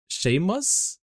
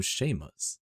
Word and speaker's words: Seamus: It's pronounced shame. Sheamus. Oh, Sheamus.